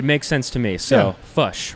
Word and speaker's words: Foch: sense to me so fush right i got that so great and so it's like push but with a french sure yeah and so